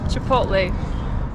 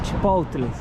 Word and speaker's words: Chipotle: Chipotle. ¿Cómo? Chipotle. ¿Sabes que ¿Sabes que es divertido? Porque ya he hecho reels pronunciando las marcas americanas.